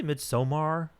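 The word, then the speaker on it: Midsommar: how do you say I say mid-somar I don't know because it's O.R it's like yeah okay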